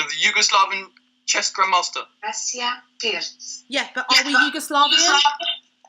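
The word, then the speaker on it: Pirc: This is the official pronunciation of the chess grandmaster. Vasya Pirts.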